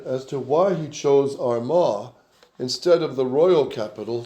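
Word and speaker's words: Armagh: Can you pronounce that? Arma.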